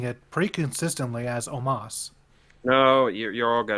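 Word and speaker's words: Omos: pronunciation at the very least that's his name omas but it's spelled o-o-m-o-s i know it's by the way but they're pronouncing it pretty consistently as omas no you you all got it wrong i'm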